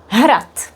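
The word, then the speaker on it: hrad: Har is a castle. D is pronounced as T here.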